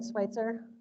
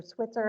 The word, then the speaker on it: Switzer: does anybody know about Catherine Schweitzer yeah I think um or Switzer I think it actually is how you pronounce her name there's a lot to